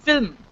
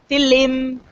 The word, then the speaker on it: film: we don't have them so f i l m l m we don't know so we'll say film FM fim we'll say something else trying to pronounce that